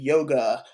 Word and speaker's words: yoga: a you oftentimes uh if you're pronouncing it properly do not pronounce the ending a so even yoga properly pronounced is actually yog anyways you yourself don't